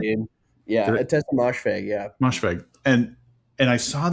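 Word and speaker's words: Ottessa Moshfegh: Yeah, Atesha Mosfeg, yeah.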